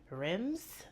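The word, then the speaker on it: Reims: So we went to Rims. I think I'm mispronouncing that because I feel like they don't pronounce the M in there, but I went there,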